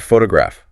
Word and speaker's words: photograph: Think about the word photograph. Where's the stress? Photograph, first syllable.